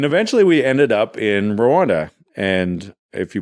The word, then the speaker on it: Rwanda: And eventually we ended up in Rwanda. And if you pronounce Rwanda is how we would say it in Canada, the better way is Rwanda cuz it's actually RW. It's not R A W, but for the purpose